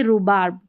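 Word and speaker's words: rhubarb: तो, इसमें भी क्या है? एच साइलेंट है और ज्यादा स्पेलिंग्स यूज़ होती है राइम और रिदमम की।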